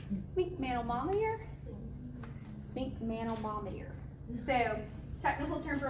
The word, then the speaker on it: sphygmomanometer: Sphygmomanometer. Sphygmomanometer.